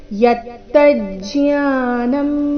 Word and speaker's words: ಯತ್ತಜ್ಞಾನಂ: ಜ್ಞಾನಂ ಮತಂ ಮಮ ಯತ್ತಜ್ಞಾನಂ ಅಥವಾ ನೀವು ಜ್ಞ ಅಂತ ಉಚ್ಚಾರಣೆ ಮಾಡ್ತಾ ಇದ್ರೆ ಯತ್ತ ಜ್ಞಾನಂ ಯತ್ತ ಆದ ನಂತರ ಜಿ ಇದೆ ಅದರ ನಂತರ ಜ್ಞಾ ಬಂದಿದೆ ನೀವು ಜ್ಞ ಅಂತ ಉಚ್ಚಾರಣೆ ಮಾಡ್ತಾ ಇದ್ರೆ ಯತ್ತ ಜ್ಞಾನಂ ಮತಂ ಮಮ ಈ ರೀತಿ ಬರಬೇಕು ನೋಡೋಣ ಪೂರ್ತಿ ಶ್ಲೋಕ ಮೂಲಗೀತೆಯ